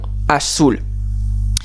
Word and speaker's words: azul: Non, rappelez-vous, toutes les lettres en espagnol se prononcent. Donc si vous écrivez un E au singulier, ça ferait pas azul, mais azule.